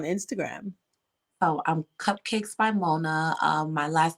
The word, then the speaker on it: Monah: oh um cupcakes by Mona um my last name well Mona my last name is spelled m o n a h don't forget the H and you're going to